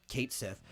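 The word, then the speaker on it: Cait Sith: uh said you know it it's spelled exactly or it sounds exactly as it spelled Kate Sith uh but he made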